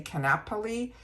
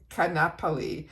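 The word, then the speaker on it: Kaanapali: This one I going to do my best to pronounce this name down here which is K A N A P A L I. I'm going to say Canapoli. This is the Coast Hair and Body Mist.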